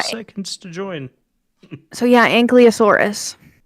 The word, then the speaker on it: ankylosaurus: So, yeah, Ankylosaurus. Right? It's Ankylosaurus. I don't know how to spell it.